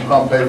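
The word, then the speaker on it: Pompey: everyone pronounces that different I think pompy is actually the correct pronunciation there's a city called pompe and then there's pompy but I always end up saying pompe for both of them so uh anyone who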